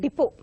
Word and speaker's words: depot: you remember, the word depot. This word is, people know about it, and by word of mouth you listen to it, and very happily you pronounce it correctly. There also the T is silent.